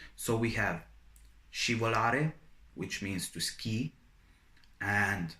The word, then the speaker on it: scivolare: So when you have S followed by C and I, it is pronounced as sh. And also when you have S followed by C and E. So we have scivolare, which means to ski,